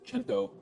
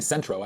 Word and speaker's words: Cento: But I had mispronounced one of the brand names. Cento. San Marzano tomatoes. And I kept saying Centro.